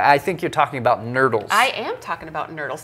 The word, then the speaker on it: nurdles: It rhymes with turtle and doesn't belong in the ocean.